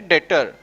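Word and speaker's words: debtor: डेटर। इसको क्या बोलेगा? डेटर। देखो बी साइलेंट है इसमें, याद रखना।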